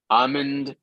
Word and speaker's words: almond: L before M normally in English is silent. Almond, calm, salmon.